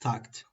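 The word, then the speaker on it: takt: Then there's a t time uh here, you know, pronounced tucked like a musical beat.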